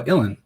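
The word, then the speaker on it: Ilyn: Ilian Payne. No, Ilan. Yeah, my bad. Yeah. No. Yeah, I think No. you right. Sir Okay. Ilan Payne. Yeah, I threw an extra syllable in there.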